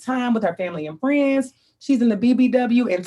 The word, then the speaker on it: Phrinds: She is a communications professional and is also the co-founder of the Friends, it's spelled PH, which I love, PHRINDS, but it's pronounced Friends.